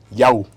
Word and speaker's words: Yau: Maestro Yao, bienvenido a esta casa editorial. ¿Cómo está? ¿Lo pronuncié Muy bien? bien. Yau.